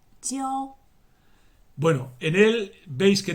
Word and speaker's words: 教: Y se pronuncia 教 bueno, en él veis que tenemos la piedad filial a la izquierda y a la derecha una mano con un palo.